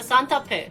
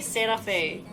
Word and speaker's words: Santa Fe: fuel really but i like the design of santa fe not that big in korea we pronounce the santa pit so don't say santa fe i'm gonna go against this because you guys